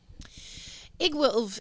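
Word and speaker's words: Iggwilv: with it i promise igg w-i-l-v pronounce it egg wolf is a witch queen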